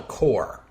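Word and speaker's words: corps: formation is called a core that's spelled c r PS with a silent PS because the word comes from French in English the plural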